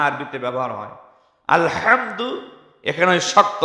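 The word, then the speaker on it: الحمد: বড় হা শক্ত হাটা কন্ঠের মাঝখান থেকে হা এইভাবে শক্তভাবে উচ্চারণ হয় আরেকটি রয়েছে স্বাভাবিক হাটা বাংলার হয় আকার হার মতে স্বাভাবিক কোন কষ্ট নেই এই দুইটা হা আরবিতে ব্যবহার হয় আলহামদু এখানে শক্ত হা বড়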